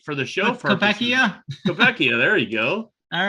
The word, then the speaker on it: Koepka: Koepka?